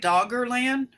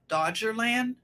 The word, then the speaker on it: Doggerland: Is that how I should pronounce it? Did I say it right? Doggerland? Dodgerland.